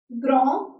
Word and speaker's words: grand: Next we have grand. Here D is silent.